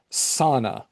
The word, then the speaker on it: Ssanna: Do, Tiny Bird's Lament, and Sana, which is spelled Ssanna.